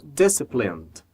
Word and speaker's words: disciplined: E na palavra disciplined, nós vamos conectar o N ao D.